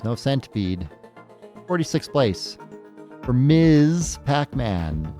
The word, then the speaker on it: Ms. Pac-Man: 46th place for Miz Pac-Man. Say it correctly. Miz. It's important that you understand everybody. M. Pac-Man is not married.